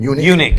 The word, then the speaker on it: Enoch: The the topic that we're on being uh being how do you say this word again? Unic. Unic. I keep thinking eno.